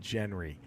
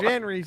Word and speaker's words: genre: guy, I'll never forget, this redneck pronounced it Genry. And I thought that was the funniest thing. Genry? There's different genres in movies. Genres.